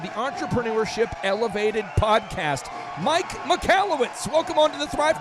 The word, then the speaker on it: Michalowicz: your last name yes so it's pronounced mallwitz but if you're an